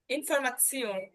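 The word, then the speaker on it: Information: ইনফরমাসিওন, এই যে এ এবং টে একসাথে থাকার কারণে টর মতো একটা উচ্চারণ হবে ত, ঠিক আছে?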